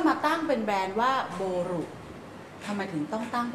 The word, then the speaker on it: Boru: ค่ะ ค่ะ ชื่อ เล่น ชื่อ บอล ก็ อ่าน เป็น ภาษา ญี่ปุ่น อื ก็ จะ อ่าน ว่า โบรุ ค่ะ ออ ก็ เลย เอา